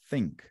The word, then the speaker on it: think: Necessariamente eu tenho que fazer esse movimento aqui, ó.